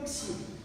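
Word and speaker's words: ξι: Теперь буква «кси». Вот привыкайте, что она вот так пишется, по-другому никак не пишется.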